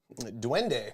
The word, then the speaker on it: Duende: dunder dune duende duende at silos yeah it's duende at silo city that's right that place is